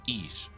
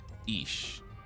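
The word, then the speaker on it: איש: You already know about your shin which makes a shh sound as in quiet ish. Is so the word for man in Hebrew is ish. So the man ish.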